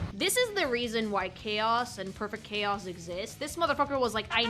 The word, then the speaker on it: Chao: SO, CHAO. My favorite thing. Okay, first of all, triangle for cuteness.